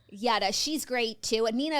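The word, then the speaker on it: Jutta: It's spelled Jada. But this Oh my god. I follow her on social media. I've never heard her name said out loud. Yada.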